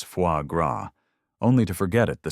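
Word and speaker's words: foie gras: She had spent the entire subway ride googling how to pronounce fuagra, only to forget it the second she opened the menu. I'll have the the foy grass," she tried, blushing as the waiter cracked a knowing smile.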